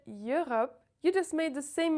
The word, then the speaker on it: Europe: There's no E in this word. Europe. The French E, and that's it. Europe. And the same goes for all the words in this family. Euro, Européen, Europe. Never E in there.